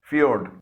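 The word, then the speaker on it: fjord: Sound نکل رہی ہے۔ ایک اور لفظ ہے ایف جے او آر ڈی، فیورڈ۔ اس میں جے سے ج کے بجائے یہ کی ساؤنڈ نکل رہی ہے۔ اس کے معنی ہے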